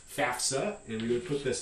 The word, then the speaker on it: FAFSA: And it's pronounced FAFSA, and we would put this in phonetic script in this way.